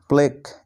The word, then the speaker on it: plaque: তারপরে দেখো সবশেষ নিয়ম, রুলস নাম্বার 5, শব্দের শেষে যদি QUE থাকে তাহলে এই 3টি বর্ণ একসাথে ক এর মতো উচ্চারণ হয়।